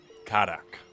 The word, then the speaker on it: Karak: all right pleasure to be Cara how you pronounce it karak all right okay pleasure to meet you Charmed